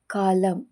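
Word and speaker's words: column: ಇದಿಷ್ಟರಲ್ಲೂ L silent ಆಗಿದೆ N silent ಆಗಿರುವಂತ ಪದಗಳು ಎ ಯುಟಿ ಯುಎನ್ ಎಂಎಂ N atom ಅಂದ್ರೆ ಶರತ್ಕಾಲ ಹಚ್ ವೈ ಎಂ ಎನ್ ಹೈ ಅಂದ್ರೆ ಸ್ತೋತ್ರ ಸಿಓ ಎಲ್ ಯುಎಂ ಎನ್ ಕಾಲಂ ಅಂದ್ರೆ ಸ್ತಂಭ ಇವು ಮೂರು ಪದಗಳಲ್ಲಿ ಎನ್ ಸೈಲೆಂಟ್ ಆಗಿದೆ ಟಿ ಸೈಲೆಂಟ್ ಆಗಿರುವಂತ ಪದಗಳು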